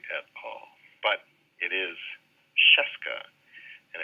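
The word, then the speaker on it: Scieszka: all but it is Cheska and it pretty much rhymes with fresca so now I always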